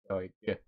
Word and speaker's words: Doig: I think I used to like say Doig, like I didn't emphasize the G in the past. Like, but now I'm like Doig, Doig. It sounds, I guess it sounds a bit better. I just got used to saying my name. Yeah, that sounds like it's what it is. Doig. I guess if you put the G with the M, then it kind of ends better.